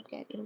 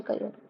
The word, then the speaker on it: career: prestigious carrier carer or Carrier whatever you say but carrier is a wrong pronunciation so it should be career so prestigious career so